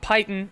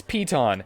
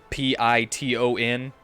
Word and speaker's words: piton: figured out how to say piton it's not python it's not pitten it's piton and i i hate it yeah you know those uh rock climbing things that you hammer into into walls and stuff p-i-t-o-n it's apparently pronounced piton and i absolutely hate